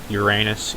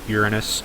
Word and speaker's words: Uranus: Ceres, Pluto, Neptune, Uranus, Yes, I say Uranus, even if it's pronounced Uranus.